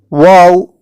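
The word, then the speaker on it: واو: words neck banana pin wow corresponds to the letter W in English and it is articulated exactly the same way as the sound in these English words want awake cow ha corresponds to the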